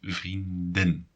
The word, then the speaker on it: vriendin: And if you have issues with pronunciation, it might be quite tricky to make the distinction between vriendin, female friend, and vrienden, friends. So pay attention to that. It's vrienden and vriendin.